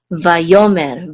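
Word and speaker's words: ויאמר: So this is mer, vayomer, vayomer, which means and he spoke.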